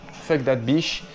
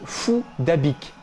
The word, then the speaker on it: Phuc Dat Bich: de ce jeune homme ne se prononce même pas de la même manière que les insultes en le disant avec l'accent vietnamiens feu de labiche se prononce plutôt fou dabic fouda big fouda big c'est incroyable un cas